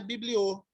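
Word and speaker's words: βιβλίῳ: é que o ômega, ele tem som de O, por isso que é bibliô, Bibliou.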